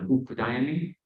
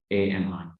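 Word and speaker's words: utpādayāmi: When the Tibetans pronounce it, it sounds a little differently. I think it probably sounds like Utpadayami, but it's really, in Sanskrit at least, it's Utpadayami.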